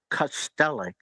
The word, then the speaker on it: Kastelic: my name uh it's it's always been pronounced cellic cellic and Gregs is cich